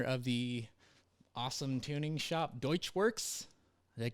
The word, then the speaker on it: Deutschwurx: I got Scott Sayers on the podcast today, owner of the awesome tuning shop Deutschwurx.